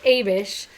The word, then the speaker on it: Abish: Pronunciation guide says Abish.